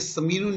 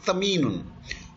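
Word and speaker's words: ثمين: देखें ये समीनुन जो है इसका तो एक्चुअली पढ़ना है, इसका प्रोनाउंसिएशन होना चाहिए तमीनुन, और ये 3 नुक्ते वाला ते है.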